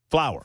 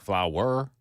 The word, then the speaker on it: flower: Flower. Flower. Flower. Flower. Flower. It It's two syllables. It is two syllables.